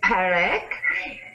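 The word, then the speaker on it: Parek: How do you pronounce it again? With a P? Yes, it is Perak.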